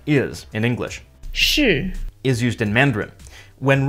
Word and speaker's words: 是: 是 Is used in Mandarin. When read in Cantonese, it's pronounced 是 but the typical Cantonese word is 係 This